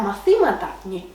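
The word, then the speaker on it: μαθήματα: Ta mathimata, the lessons, as a subject, we have an extra syllable at the end, and because it's a 3-syllable word and becomes a 4-syllable word, we're dropping the accent from the 4th syllable to the third one from the end.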